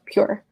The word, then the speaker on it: pjur: So it's spelled PJUR. Got it. But it's called Pure.